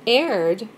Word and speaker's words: erred: greek translation of that those words have aired that is spelled e-r-r-e-d like in air you you've caused an